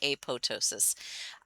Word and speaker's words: apoptosis: Now, I have heard it pronounced both ways, apoptosis and apoptosis. I will pronounce it both ways. Neither one's wrong as far as I'm concerned.